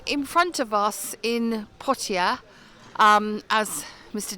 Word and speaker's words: Poitiers: So in front of us in Pia um as Mr. D tells me that's how you pronounce it is the um Notradam church which sadly is closed at the moment while they renovated it.